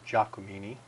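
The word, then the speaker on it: Giacomini: is that's GI a CEO mi ni the pronunciation for mr. Jha Kamini and I do know mr.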